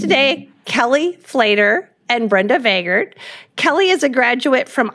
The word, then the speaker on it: Vagard: Somebody in the crowd was happy to know how to pronounce Brenda's last name, and so, anyways, it's Vagard.